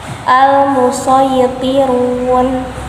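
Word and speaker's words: المصيطرون: Tetapi di dalam mushaf Madinah, kalau ada sin kecil di atas huruf shad, maka cara bacanya harus pakai sin. Tetapi kalau huruf sin kecil tersebut di bawah huruf shad, maka dibacanya boleh pakai sin, boleh pakai shad. Tetapi di mushaf Indonesia, sin kecil itu semuanya di atas huruf shad. Contohnya di dalam Quran Surah At-Tur ayat 37. Al-Musaytirun dibaca.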